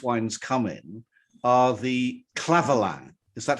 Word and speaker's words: Clavelin: Of course, the bottles that these wines come in are the Clavelin.